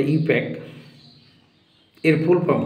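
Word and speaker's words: IUPAC: দিচ্ছি যদি পারো লিখবে আইউপিএসসি অনেকে উচ্চারণ করে ইউপ্যাক এর ফুল ফর্ম কি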